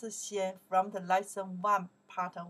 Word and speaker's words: 先: This character we pronounce xian from the lesson one, part one.